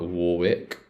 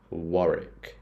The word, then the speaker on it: Warwick: Maron this one's interesting this one's not Warwick this one isn't Warwick this one is wari war wari wari Avenue W Rick